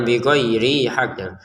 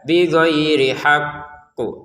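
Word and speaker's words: بغير حق: Untuk kata haq di sini kita tekan dulu baru kita pantulkan. Bigayiri haq itu kan ditekan kemudian dipantulkan langsung bighiri haqqu seperti itu ya. Jangan langsung dipantulkan kalau belum ditekan atau hanya ditekan tapi tidak dipantulkan. Jadi dua-duanya harus ada bighhairi haqqu gitu ya.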